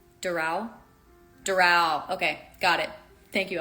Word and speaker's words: Doral: So, accent on the A. Doral? Doral.